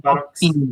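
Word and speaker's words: Saurolophinae: O E INAI sim, da subfamília força a palavra a ser pronunciada como Saurolofine.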